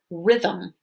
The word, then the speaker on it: rhythm: the right side so the h isn't going to make a sound here like in the word rhythm okay it's spelled rhythm